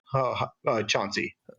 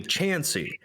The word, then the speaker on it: Chansey: stance, which is what, Chauncey? So, and I think you heard my name wrong. It's actually Chansey.